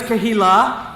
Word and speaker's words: Kehillah: First of all, I've learned that it's Kehillah.